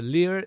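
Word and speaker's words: 리을: So the lir, again, is like an R, L, and it's a mix of R and L as well.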